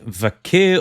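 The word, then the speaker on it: Vaquer: let's move on then Stephanie vak or vaker we can't quite decide how to pronounce the name the last I heard was vaker so I'll stick with that so do you remember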